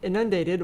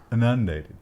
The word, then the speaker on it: inundated: Christian Book Distributors blah, blah, drops CBD initials after getting inundated with cannabis requests. Bad time to be CBD Christian Book Distributors. Inundated, you say? Yes. I think you put the emphasis on the wrong syllable.